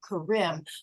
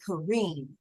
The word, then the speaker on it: Kareem: make one correction my I was pronouncing the rolling of the tongue was great Karim but you are Ray Kareem yes ma'am thank you